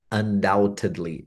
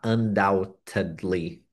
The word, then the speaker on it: undoubtedly: Undoubtedly. Doubt é dúvida. Doubt. A gente não pronuncia o B, tá? Undoubtedly.